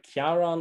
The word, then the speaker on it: Ciaran: say your name ciaran well kiaran or let's see it it's a welsh name welsh name beautiful that's